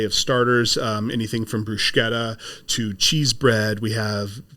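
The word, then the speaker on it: bruschetta: an entire array of starters um anything from brushetta to cheese bread we have multiple flavors of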